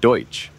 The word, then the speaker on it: Deutsch: may have stemmed from the German pronunciation Deutsch sounding like Dutch to others in his